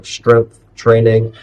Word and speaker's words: strength training: Strength training, kind of hard pronunciation with the final TH and then TR for training.